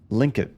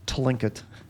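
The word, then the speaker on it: Tlingit: Linkit. I think that's how they pronounced it. Linkit. Like the T is silent. Not Tlinkit. Linkit.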